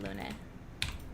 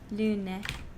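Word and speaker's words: Lune: Yeah, I'm going with the more French pronunciation of Lun. At least I'm pretty sure that's correct. I'm still doing a very American pronunciation, but Lun. Like if you if you've played Expedition 33, they use the French Luna there for one of the characters.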